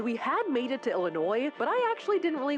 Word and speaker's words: Illinois: Everyone from Illinois was like, you don't pronounce the S.